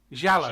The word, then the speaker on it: Giallo: Giallo. Giallo.